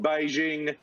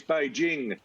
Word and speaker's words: Beijing: huge on pronunciation and he'd say it's not beijing it's beijing and it's not los angeles he's it's los angeles and there's a whole